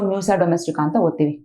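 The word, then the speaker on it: Musca domestica: fly this house fly Musa domestica here C is silent so Musa domestica ok now we will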